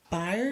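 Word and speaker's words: Byrne: So, you do have is it Rose Burn? Burn. It's burn. I think it's called Burn. I mean, I think she pronounced it burn.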